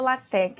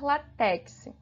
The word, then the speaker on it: LaTeX: iremos falar um pouquinho sobre a origem do latc né como surgiu latc o latc ele originou